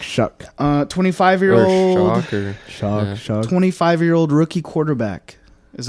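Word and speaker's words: Shough: How do you say it? Shu show. Tyler Shuck. Shuck. Shuck. Where's the Where's the C?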